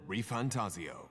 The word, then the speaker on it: ReFantazio: epic here Begins the demo prologue of metaphor reantaso so that's how you pronounce it what we have to offer you